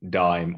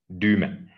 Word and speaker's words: Dyme: is called duma solutions we pronounce it like not dime or anything we just like to call it duma our company was founded